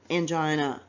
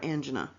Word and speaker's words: angina: say angena I mean angina you can pronounce it either way it is correct so just to recap what's on this slide I just wanted to point that out to you I'm not saying it incorrectly I'm just saying it one of two correctable uh correct ways of saying uh angina or angina so to recap what's